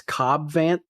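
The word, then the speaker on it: Cad Bane: don't worry YouTube and Spotify comments it is cob vant um unfortunately Faith does not watch Star Wars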